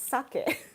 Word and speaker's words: sake: Just like sake is not sake, it's sake.